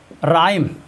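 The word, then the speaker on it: rhyme: Rule number 2, आर या W plus H हो तो वहाँ पर एच साइलेंट होता है।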